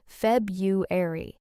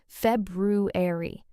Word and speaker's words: February: So, the thing is, a lot of people say Feb-u-ar-y, and actually even many native speakers say it that way informally. But the more careful, correct pronunciation is Feb-ru-ar-y, with a clear r sound in the middle.